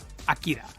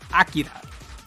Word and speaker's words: Akira: Akira.